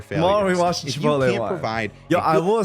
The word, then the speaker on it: Chipotle: Tomorrow we watch the Chipotle one. Provide I will say, when I went to Chipotle for the first time, I think I was